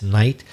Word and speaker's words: knight: what about a homophone a word which is also pronounced night but has slightly different spelling ah King Arthur and the knights of the round table